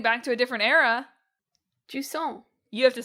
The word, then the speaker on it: Jusant: Yeah, it's basically a French word. I think it means like the receding of the tides, essentially. Yes. So in Jusant, you play a little